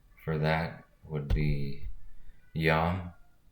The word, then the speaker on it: Yam: So the sound for that would be Yam, kind of spelled like yam, but pronounced with the O in the middle, so Yam.